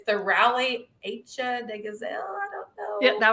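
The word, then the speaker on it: Rallye Aïcha des Gazelles: It's the Rally Asia de Gazelle. I don't know. Yeah, that was pretty close. The Rally Asia des Gazelles. It's French. Okay. Even I had trouble pronouncing it when I was over there.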